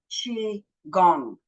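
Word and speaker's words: qigong: g n but it is sp it is pronounced chi gong chi meaning energy so it's energy harnessing and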